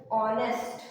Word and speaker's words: honest: so you can see H is silent in the beginning we will take another example honest okay as we say